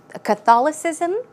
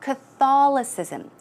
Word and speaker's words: Catholicism: say, I currently practice the religion of Christianity, Catholicism, or even Buddhism. These are just examples, okay? So let's take a look at the pronunciation, Christianity, and also Catholic, right? You would pronounce that Catholicism. Catholicism.